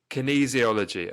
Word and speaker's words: kinesiology: is it kenis how do you say it Kinesiology or something I've butchered that kinesiology Kinesiology okay perfect so let explain to the the